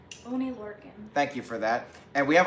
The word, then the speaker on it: Oney Lorcan: The first match was Drew Gulak defending the Cruiserweight Championship against, how do you pronounce the name? Oney Lorcan.